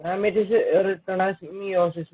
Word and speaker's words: meiosis: Ma'am, it is written as meiosis, not meiosis. Yes. Meiosis, we say mitosis and meiosis. E is silent in meiosis.